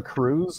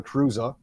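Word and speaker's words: Kruse: signed fullback John Levi Cruz of Germany uh sorry it's pronounced Levi kruza he was selected by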